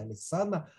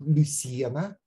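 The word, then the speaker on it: Lucena: И там на два поколения зашла звезда великой ешивы Алисана, на иврите она называется, и все произносят Алисана. На самом деле это город Люсьена, рядом с Кордовой.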